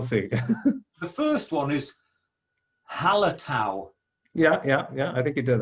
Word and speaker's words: Hallertau: The first one is Hallertau.